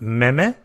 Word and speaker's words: meme: I also had a problem with something called meme. It doesn't spell like meme. It's spelled meme.